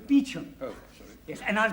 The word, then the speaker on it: Beauchamp: Beauchamp. Calling Mr. Beauchamp. Mr. Beauchamp has been employed by the following firm. It's pronounced Beecham.